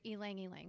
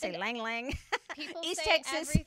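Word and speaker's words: ylang-ylang: something like geranium or Alang Alang for anger okay how do you say that oh I totally said that right ylang ylang different bergamot Bergamo okay every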